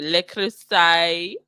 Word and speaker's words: Le Creuset: Le Creuset.